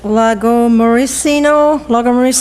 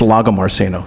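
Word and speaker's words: Lagomarsino: It's not the first time I've heard my name mispronounced, but it's Lago Marceno.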